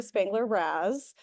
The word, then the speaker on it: Spangler-Raz: And with me today is Erica Spangler-Raz. I said your name right? Yeah, okay, yeah, I remember because you said it rhymes with jazz.